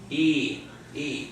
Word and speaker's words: y: itself that means and it's pronounced just like the high and off a e o so to say and in Spanish we say what e e okay so now we're